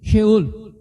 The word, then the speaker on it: Sheol: O certo é em hebraico mesmo, sheol.